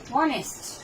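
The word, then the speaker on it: honest: যেমন দেখেন অনেস্ট, এর এইটা উচ্চারণ হয় না, কার উচ্চারণ হচ্ছে ওর, এই জন্য তাহলে ভাওয়েলের আগে আসলো কি হলো অ্যান।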